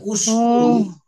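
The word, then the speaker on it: اشكروا: উশকুরু উশকুর তাহলে উশকুরু এই অ এর কারণে এই হামজাতুল অস্থিটা প্রোনাউন্স হচ্ছে না অশকুরু ফেলু আমরিন ফায়েলকে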